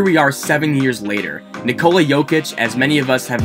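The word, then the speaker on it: Jokić: play out here we are seven years later nikola jokic as many of us have now learned to pronounce is now a multi-time all-star an mvp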